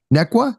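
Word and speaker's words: Neuqua: So you're a high school technology teacher, technology and engineering teacher at Nequa. Is that how I pronounce it?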